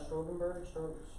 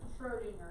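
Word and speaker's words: Schrödinger: it Strogenberg? I got I that. will take that because it's been a Schrodinger. while. Okay, how do you say it for real? But I'll take it. Schrodinger. Schrodinger.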